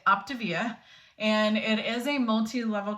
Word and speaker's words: Optavia: it looks like you're it's spelled like Octavia I always thought it was called Octavia but they say it optivia and it is a